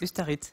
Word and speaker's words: Ustaritz: Est-ce que j'ai bien prononcé Ustaritz? Ustaritz, c'est Ça va?